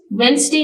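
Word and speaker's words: Wednesday: पास TCH match में silent letters वेनसडे में डी तो यहां पर हमारी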